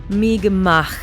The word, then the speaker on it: Mi'kmaq: And uh sure enough, looking into the history, I find the first peoples of this nation, the Migmak is how you pronounce it.